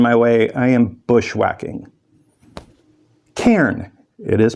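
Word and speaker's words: cairn: that's getting in my way I am bushwhacking K it is pronounced k c a i r n this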